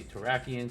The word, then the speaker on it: Terrakion: Some say Terrakion, but then I have to change my mind how the other 3 say, because it feels like the last syllables should sound the same for all 3, so that's why I say Terrakion, Cobalion, Virizion. Otherwise it's like Terrakion, Cobalion, Virizion. And that just doesn't sound right to me.